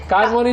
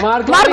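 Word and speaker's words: Marconi: नहीं, कार्मोनी नहीं है, मार्कोनी है।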